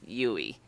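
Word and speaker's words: Duy: Just think of me when you do a U-turn. Okay. The D is silent. UI.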